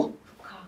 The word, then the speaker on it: 국화: 이거 국화 이렇게 안지 어떻게 읽니? 국화라고 읽어. 국화. 국화라고 읽어야 돼. 어 멋대로 모음을 탈락시켜 버리면 안 돼요. 여기 있는 국화는 국화라고 발음돼.